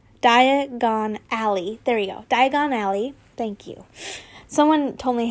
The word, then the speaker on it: Diagon Alley: Diagon Alley. Thank you. Someone told me how to pronounce it like that.